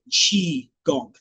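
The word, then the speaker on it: qigong: So that's what chiong it's spelled q i g o n g but it's spelled chi gong right not too.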